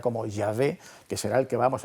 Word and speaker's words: Yahvé: da a un tetragrama de YHWY, entonces se pronunciaría como Yahvé, que será el que vamos a conocer después, aunque las Biblias cristianas, pero que son evangélicas, le llaman Jehová, que es una mala traducción también que los